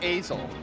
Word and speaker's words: Azel: It is Azel. Yeah, It that's is what really? I How thought. you're- yeah, that is Oh.